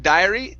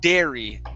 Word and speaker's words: dairy: one this is uh instead of diary this is dairy dairy products there you go